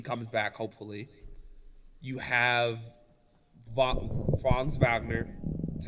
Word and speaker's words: Franz Wagner: You have Franz Wagner. That's how you say it, right? Franz Wagner.